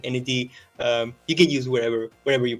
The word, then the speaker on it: Enedee: I've been called Enedee, Enedee. Any of them work fine. So I I, Okay. I pronounce it Enedee.